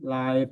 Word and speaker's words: like: to be careful you you need to remember to pronounce the last consonant otherwise it doesn't make sense so the word like of course K is the last consonant so you have to be careful to pronounce the sounding like does that make sense